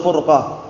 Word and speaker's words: furqah: Nah, ahlus sunnati wal jamaah, ahlul bid'ati wal furqah. Paham ya? Bukan firqah tapi furqah ya. Kalau firqah artinya lain. Kalau firqatun kelompok, tapi furqah itu perpecahan.